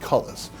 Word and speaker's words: cullis: what the internet says, this is not pronounced coulis in our time period, it's pronounced cullis.